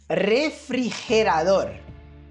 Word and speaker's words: refrigerador: trava-línguas né vai ver mistura aí a pronúncia da letra r = a letra g e vi uma confusão danada né mas eu vou falar devagarzinho aí para você entender bem essa pronúncia que eu considero uma palavra difícil refrigerador se repita comigo